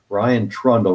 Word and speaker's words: Ryan Trundle: Hello, I'm Victor Tiffany with Citizens Against Plutocracy, talking today with CFAR candidate Ryan Trundle. Ryan, am I pronouncing your name right?